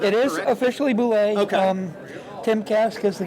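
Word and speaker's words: bulette: So now, as a whiskey fan, I just call it Bullet.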